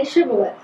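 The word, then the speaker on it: shibboleth: fighting another group and the first group could say shth the other group could only say cth so when they would wanted to cross the Jordan they'd say say shibolet yeah and if they said it right they got across him they said it wrong they couldn't interesting well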